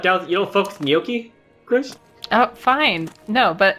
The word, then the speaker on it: gnocchi: know I'm just I think it's gnocchi it's not like you don't you don't put too many syllables into the beginning it's gnocchi okay no you pronounce